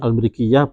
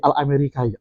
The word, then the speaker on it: Al-Mrikiyah: Jadi bukan, kalau orang udah tahu bacanya Al-Lughah Al-Jawi Al-Amerika, Al-Amerika kan begitu ya, bahasa Jawa Amerika yang tidak ada, itu Al-Brikiyah itu.